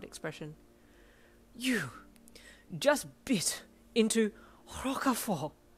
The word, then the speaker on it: Roquefort: This is Roquefort. Why are you saying it all fancy and stuff? That is how it's pronounced.